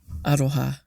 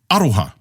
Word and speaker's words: aroha: So within te reo Māori, we have aroha. And aroha stresses the first syllable of the word.